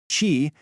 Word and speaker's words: Qi: Chi, and is pronouncedqi is the universal standard that lets your phone talk to pretty much any certified charging pad out there.